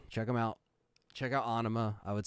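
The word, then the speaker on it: Ænima: was released in 96 some people say enema but Ana is like how the band say says it so but the band will still say two different pronunciations because they're but but Ana is what it what it is um and it has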